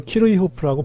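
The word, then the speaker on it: Kirchhoff: 그래서 독일 사람들은 여기 말대로 키르호프라고 불러요.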